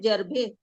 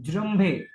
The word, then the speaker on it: जृंभे: Pros जर्भे जर्भे नहीं, जृंभे, जृंभे। जम्भे। हाँ pros चलेगा। प्रोज प्रोज र इसमें आ जाएगा सर, हाँ, र का उच्चारण नीचे।